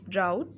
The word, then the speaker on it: drought: words in this paragraph the first one is drought look at the small yellow box right beside the paragraph rhymes with doubt a long period of